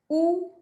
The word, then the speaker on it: ou: The second one is oo, which is or, oo. Somehow, if you can write the pronunciation in your language, it'll be easy to remember.